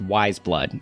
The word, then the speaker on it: Weyes Blood: and fun fact it is pronounced wise blood it's taken from the Flannery O'Connor novel the reason it's spelt